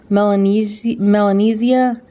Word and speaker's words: Melanesia: He has got, I think this is pronounced Melanesia.